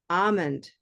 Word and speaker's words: almond: I'll say is that L often leads to time. I'm just going to do it like that. These little dots mean more time. So all almond milk. We often will end up spending more time on that A sound. Okay. And that one will be, again, it can be olive, almond, or almond.